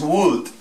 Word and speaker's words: would: Estos otros, lo que es would, should y could, nunca se les coloca en la pronunciación la L. Would, could y should, todos sin la L.